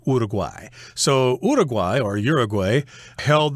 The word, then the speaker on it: Uruguay: I should mention that a lot of westerners pronounce this word as Uruguay but in espanol I guess it would be pronounced Uruguay Uruguay so Uruguay or Uruguay